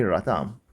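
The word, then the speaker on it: Latham: The organizational psychologist Edwin Locke and Gary Radam 조직 심리학자인 그죠? 에드윈 로크와 게리 레이덤이라고 읽나요? 라담이라고 읽었는데 레이덤이라고 하는 사람들은 developed an influential theory 아주 영향력 있는 그러한 이론을 발전시켰다라고 합니다.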